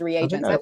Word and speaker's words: reagents: At first, I read it as regents, but then I thought I had misread it. I went back and paid attention. I was like, oh, it's REA. Okay, that's reagents. That makes total sense. That makes a lot more sense than regents.